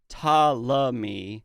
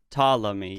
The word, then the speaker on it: Ptolemy: need we probably sound I was Googling the pronunciation of Tom Lee and it's talami that's what she said Ptolemy yeah sorry but I